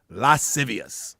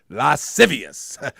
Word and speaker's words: lascivious: Lascivious. That's how you say it. Lascivious.